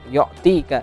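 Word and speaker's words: يُعْطِيكَ: Nah, itu juga terbacanya yu'tika ya. Bukan yo ya, yu'tika.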